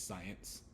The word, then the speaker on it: science: the end of science that c at the end is a soft C because that e is there so it's not SCI it's science because the S the C Sound is the Soft C the next letter is